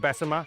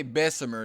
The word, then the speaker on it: Bessemer: We're going to be visiting Mobile, Birmingham, and Bessemer. Birmingham actually last year alltime high in record terms of murders. There's our list. They don't say Bessemer. They say Bessemer. That's how they say it.